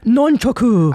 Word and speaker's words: nunchaku: I'm sorry, am I mispronouncing it? It's actually it? Nun. I only know that from karate class with my kids. But there's a weird name for them. It's nunchaku. I don't understand.